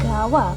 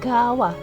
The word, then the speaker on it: gawa: Tapi itu udah bener-bener huruf gundul, dan bacanya dan penulisannya kalau dibikin dalam romaji itu gawa pakai a ya, G-A-W-A. Tapi karena hukum bacaan dalam bahasa Jawa, a itu bisa berbunyi a dan bisa berbunyi o, jadinya gowo.